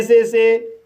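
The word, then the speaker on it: saw: इस तरह से पे पढ़ा जाएगा और पे मीन्स चुकाना। गाइस, इन वर्ड्स में ए का उच्चारण अ होगा। जैसे एस को सा पढ़ा जाएगा, ए को ओ पढ़ा जाएगा और डब्लू साइलेंट रहेगा।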